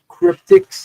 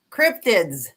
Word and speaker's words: cryptids: I was at the uh the fourth Keptics Cryptics. Did I say it right, Teddy? Because you always correcting me and saying it. You didn't. Cryptids with a D.